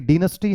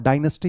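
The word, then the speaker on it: dynasty: अब आप जानते हो कि डीनेस्टी हम ब्रिटिश इंग्लिश में बोलते हैं और डायनेस्टी हम अमेरिकन इंग्लिश में बोलते हैं।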